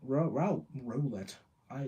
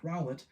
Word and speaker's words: Rowlet: potential as a power source during the day ret I that's not how you say his name I promise I've never called him that before rowlet rests and generates an energy via photosynthesis in